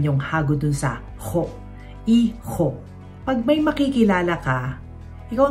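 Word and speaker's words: hijo: Tengo tres yung salitang iho, ang spelling ay h i j. Kaya hindi natin ipo-pronounce ang H ' ba. Ho. Tapos huwag kakalimutan yung hagod doun sa ho. Iho.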